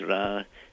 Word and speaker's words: Ra: in it in the center, which is really pronounced Ra and stood for the name of the supreme god of Egypt, Ra.